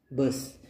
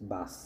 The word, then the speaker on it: bus: So bikhe bas na ne bi bade b a a s bas bas mane durgandho okay. But the correct this is the wrong pronunciation. Okay, the correct pronunciation will be bus, maybe bus, B-U-S.